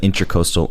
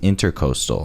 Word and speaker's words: Intracoastal: But you can find us at Intracoastal Entertainment. That is INTRA, Intracoastal Entertainment. Intracoastal. Yeah, okay. I found out that it wasn't intercoastal. It's the intra. It's intracoastal.